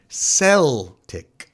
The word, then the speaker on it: Celtic: I see Celtic no in the predominantly Irish city of Boston where the team was founded they pronounced it sell tick well I'm an Irish